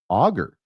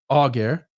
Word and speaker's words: Alger: surname as the word augur. Oh yeah. Yeah. Like uh not having So the L is silent and the G is a hard sound.